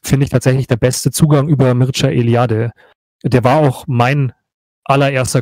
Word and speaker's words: Mircea Eliade: Der Name für den Autor ist, also spricht sich Mircea Eliade, schreibt man Mircea Eliade.